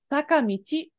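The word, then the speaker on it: 坂道: So this guy right here instead is pronounced as michi. Saka michi is a hill road.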